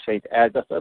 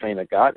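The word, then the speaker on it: Saint Agatha: be in sagot it's people who don't know the town say St Agatha but it's pronounced St aot at our father's place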